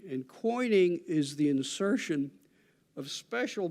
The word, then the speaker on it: quoining: There's another feature here also, which is called coining. That's spelled Quoining. And coining is the insertion of special blocks at the corners of structures in order to provide strength and stability.